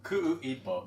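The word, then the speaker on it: Kuʻuipo: Is it Kuipo? Ku'uipo. There's a hiccup in it because it's Hawaiian. So the apostrophe is like a hiccup.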